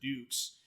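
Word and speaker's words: Dux: man named dukes and they d-u-x but they pronounce it dukes and he signed up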